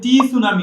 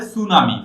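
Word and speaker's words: tsunami: পুষ্পিতা প্রাচী বলেছে যে টি সুনামি হবে না, এটা হবে সুনামি।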